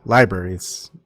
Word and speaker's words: LBRY: And also you can find the link to LBRY, or library. But it's spelled LBRY, and a lot of my content is not going to be censored there.